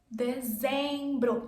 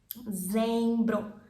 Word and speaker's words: Dezembro: Dezembro. There's the Z sound. Z. Dezembro. Dezembro.